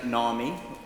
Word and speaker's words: Namih: This is Namih, rhymes with army, she told me, a rising star of British biotech.